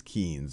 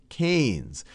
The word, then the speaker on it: Keynes: picture of John mayard kees and I often mispronounce him as kees because that's how it's spelled but it's John mayard canes and he was an economist who did a